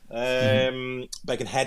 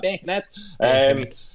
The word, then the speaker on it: Birkenhead: Birkenhead, I should say, pronounce it properly. Got my Scouse accent, that Birkenhead.